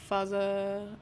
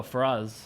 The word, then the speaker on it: Faraz: Faza, or how do you say his name? Taraka? Oh, Faraz.